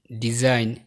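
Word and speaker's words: design: বাক্যের শুরু বা শেষে জি এন থাকলে জি সাধারণত অনুচ্চারিত থাকে, যেমন নম, নার্ল, campaign, rain, foreigner, diaphragm, সাইন, ডিজাইন, রিজাইন।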